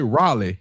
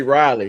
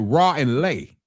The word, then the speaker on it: Raleigh: he tried to say Raleigh. He tried to say Raleigh. Raleigh. Raleigh. But But he said he said, "No, I thought that's how they pronounce it was like raw and lei."